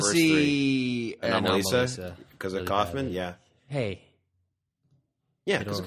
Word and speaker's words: Kaufman: He was on Why the Face with Mark Maron, and he was pronounced it Kaufman.